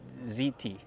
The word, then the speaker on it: Hti: they call that a ziti or something like that it's called it's spelled HTI but they pronounce it ziti and I guess it